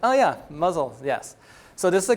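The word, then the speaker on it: Mousehole: city that town that you would think is called mouse hole right but in and Cornwall everything is slightly named different like it's pronounced differently than written so this is actually muzzle so at first I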